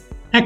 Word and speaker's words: est: C apostrophe is originally CE, a monosyllabled word that has become C apostrophe before a word starting with a vowel EST, pronounced as A.